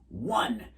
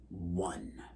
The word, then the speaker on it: one: You spell it with an O, so you'd think it would be like own, right? But it isn't. It's 1.